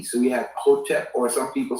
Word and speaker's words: Hotep: When we say Hotep, that's the Kemetic term, which means peace. And it's actually spelled without vowels, HTP in English characters, okay?